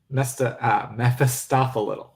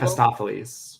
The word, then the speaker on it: Mephistopheles: Mephistopheles. There you go. I knew I was missing Like a syllable. Mephistopheles. Yeah, exactly. Mephistopheles.